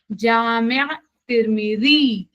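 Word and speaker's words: Jami at-Tirmidhi: लेकिन अगर आप उर्दू में इसको प्रोनाउंस करेंगे तो आप कैसे करेंगे? जामिया तिरमिजी, आयन आयन आएगा, ई की जगह आयन आएगा, तो प्रोनाउंसिएशन उस तरीके का हो जाएगा, जामिया तिरमिजी।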